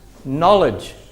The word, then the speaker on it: knowledge: spelled like this and we don't put this here anymore it's become silent it's so silent that we don't even say the K sound it is knowledge not to know it is this note